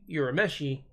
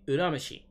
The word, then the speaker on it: Urameshi: But yeah, U in Japanese makes an oo sound. Oo. So instead of Yusuke Urameshi, it should be pronounced Yusuke Urameshi.